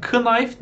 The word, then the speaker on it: knife: Bunun da okunuşuna çok dikkat edin. Knife değil. Yapmayın öyle. Knife. K'yi hiç okumuyorsunuz.